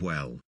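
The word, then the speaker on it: oui: come comes from the Egyptian word o meaning well with a little sound shape Association applied to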